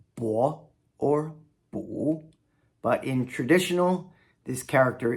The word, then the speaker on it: 不: 4th tone, bu, means no. It can also be pronounced 2nd tone, bu, if it's in combination with something else.